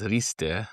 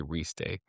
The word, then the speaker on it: Riste: If you're going to pronounce and roll your R's, it's Riste. Most people can't, so they'll say Riste.